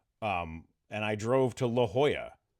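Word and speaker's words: La Jolla: Um, and I drove to La Hoya, right?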